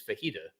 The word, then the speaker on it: fajita: The correct pronunciation, I believe, is fajita.